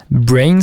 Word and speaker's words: BRNS: Brains, ça s'écrit BRNS.